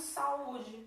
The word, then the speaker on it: saúde: A sílaba tônica é a segunda sílaba do hiato. Sa é a primeira vogal do hiato é A, a segunda vogal é U, e ela é a tônica.